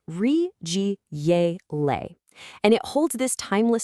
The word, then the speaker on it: 日积月累: It's pronounced rig gay le and it holds this timeless secret that real mastery isn't a sprint.